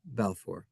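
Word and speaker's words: Balfour: Arthur Balffor. The Balffor declar declaration. It's spelled B A L F O R but it's pronounced Balffor.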